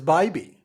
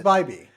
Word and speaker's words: Bybee: It is Bybee. Everybody says Bybee. I hate it. Go tell him he pronounces his name wrong. That's real nice. Bybee. It's like Australians saying baby.